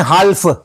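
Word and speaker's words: half: बोलते हैं हाफ बोलते हैं और हाफ बोलते हैं और लिखते हैं हाफ एल साइलेंट लिखते हैं एल साइलेंट है। तो लिखते हाल्फ है और बोलते हैं हाफ है।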